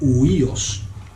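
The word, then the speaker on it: υἱός: una de ellas es la palabra huíos que se escribe h u iOS que es la palabra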